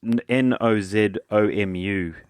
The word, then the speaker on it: Nozomu: I'll spell it for you. It's Nozomu.